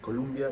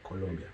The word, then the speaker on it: Colombia: l-a-s-o-s colombia we owe not columbia but colombia yeah yeah that's the